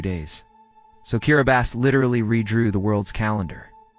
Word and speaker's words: Kiribati: Meet Kiribati, pronounced Kiribati.